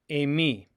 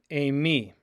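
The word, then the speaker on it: εἰμί: The verb meaning I am is emi, emi, emi. Epsilon iota form a diphthong, pronounced a, like in the number 8.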